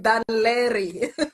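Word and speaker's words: Dún Laoghaire: and Dublin in uh Dan lry to pronounce that word oh my word Dan lry like yeah Larry yes to pronounce it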